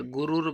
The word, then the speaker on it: गुरुर्: तो अगर गुरु कहेंगे तो बाक जो उसके ऊपर गुरुर ब्रह्मा, ब्रह्मा लिखा हुआ है उसके ऊपर रा लगा हुआ है। अगर गुरु कहोगे तो फिर उस रा का उच्चारण नहीं होगा।